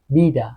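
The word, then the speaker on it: vida: حرف بعدی اوب اوب ببین یه صدایی بین ب و میده اوب بیده بیدا زندگی بنتانا پنجره وث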